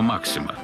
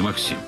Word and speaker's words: Максим: имени изобретателя американцы хайрема максима поэтому правильнее произносить максим они максим хотя максим для многих привычно на этих уникальных кадрах